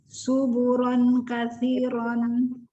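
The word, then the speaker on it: ثبورا كثيرا: Ayo, ini bukan huruf sin. Ayo. Sasu. Ya. Suburon kasiron. Belajar wakaf ya. Subuh, bunya panjang. Suburong. Ini ada tanwin ketemu kaf. Ayo dengung. Ayo. Ya nih. Suburong kasiro. Kasihnya benar, su-nya lupa lagi kalau itu adalah su.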